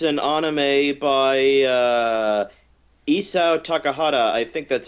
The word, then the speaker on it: Isao Takahata: It's an anime by Isao Takahata, I think that's how you say his name.